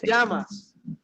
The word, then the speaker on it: llamas: ¿Cómo te llamas? That double L sounds like a Y, okay? It will always have that Y sound, okay?